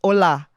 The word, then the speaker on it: hola: always correct in them no no it's not AA it's hola you know they be like